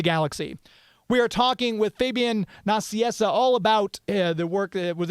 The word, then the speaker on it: Fabian Nicieza: You can access it through my website, which is Fabian Nicieza. That's how it's pronounced.